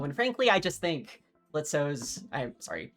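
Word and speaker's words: Blitzø: And frankly, I just think Blitzo's I'm sorry, the O is silent.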